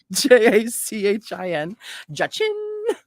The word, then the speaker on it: Jachin: learn how to say that boaz and jochen j-a-c-h-i-n okay let's find out how we pronounce that let's find out oh my gosh